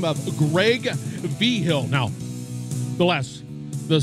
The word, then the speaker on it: Vigil: And we're talking to a gentleman by the name of Greg Vigil. Now, the spelling of his last name is V-I-G-I-L, but it's pronounced Vigil.